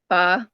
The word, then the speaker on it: pho: So I love like pho or pho, whichever Mhm, mhm. pronunciation you want to go with, Yeah.